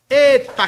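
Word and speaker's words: ἦτα: vamos falar do eta eta cabra bom como na palavra fé a fé aqui é no caso mais aberto como na palavra felo felo nesse sentido Tá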